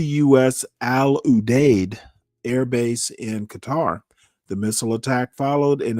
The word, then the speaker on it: Qatar: fired on Qatar uh, a carter. I pronounce it Qatar. Um, I've heard it pronounced both ways. So, if uh Black Raven is in the uh crowd, um I will give him Sukor by uh informing him ahead of time that Qatar has two pronunciations.